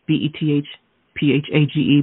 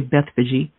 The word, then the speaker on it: Bethphage: and it reads like this now when they drew near jerusalem and came to bethphage b-e-t-h-p-h-a-g-e pronounces bethphage some people say beth fiji and it means house